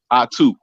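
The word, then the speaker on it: Ahtoo: dude what's your name my name pronounced is I too it's pronounced a-h-t-o-o it's pronounced a-h-t-o-o that's how you pronounce it you ain't got it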